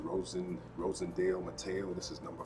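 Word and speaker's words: Rosendo Mateu: So um, I finally picked up one that was on my list, and this is, I believe it's pronounced Rosendale Mateo.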